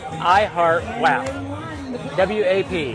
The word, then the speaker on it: WAP: W-A-P. Well, it's WAP. WAP. Sorry, WAP. If I'm going to say it, I'm going to say it right.